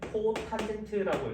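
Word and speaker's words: cotangent: 그다음 얘는 C타라고 하고 읽을 때는 코탄젠트라고 읽어요.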